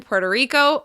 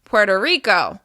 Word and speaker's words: Puerto Rico: Puerto Rico. As you can hear, the stress is still on the second word. It's on the first syllable of the second word. Puerto Rico.